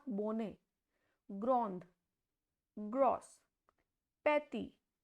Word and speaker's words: grosse: So, when E is at the end, it has no pronunciation. So, the word BONNE is pronounced as bon, not bonnet, grand, gross, petty.